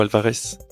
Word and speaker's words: Alvarez: Alvarez ou Alvarez? Alvarez. Les c'est deux bien. orthographes se prononcent.